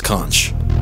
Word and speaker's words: CONCH: The Center of Neurological Capacity Harnessing, but it's pronounced Conch.